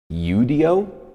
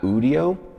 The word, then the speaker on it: Udio: it's now what um Udo not udio right people are saying you're saying it wrong right like I really